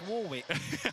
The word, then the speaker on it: Warwick: No, it's Warwick.